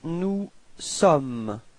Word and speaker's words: nous sommes: Then for nous, you've got nous sommes. Okay, final S is not pronounced.